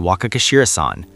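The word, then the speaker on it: Wakagashira-san: The men under you call you Waka Kashirasan. The two syllables at the end are not optional.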